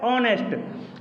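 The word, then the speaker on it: honest: H silent है इसलिए इसको पढ़ा जाता है ऑनेस्ट।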